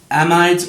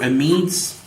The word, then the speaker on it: amides: This next video is on amides or amides. Again, pronunciation could be different depending on who's teaching you.